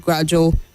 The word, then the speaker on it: gradual: The AL at the end takes a weak sound, so you say sentimental, gradual, critical, not sentimental, gradual, and critical.